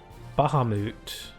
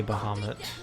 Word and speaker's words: Bahamut: uh with uh bahamut some people pronounce it bahamut but that doesn't make that doesn't sound good to me so i say bahamut because that that sounds better also i think that's